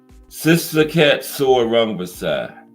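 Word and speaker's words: Srisaket Sor Rungvisai: Yeah, ranked number 10 is this guy here, Sitsakat Soor Rungvisai. SRIS. I'm putting it in there so y'all can see that I pronounced this man's name correct.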